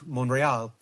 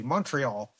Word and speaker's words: Montreal: move next was Mont Monreal. They'll uh I'll hear it from one of my friends if I don't say it properly if I say Montreal.